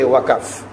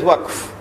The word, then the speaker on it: waqf: Now you must not say waqaf, because the word is in the Quran, you must pronounce it as it is in the Quran. So you give it as waqf.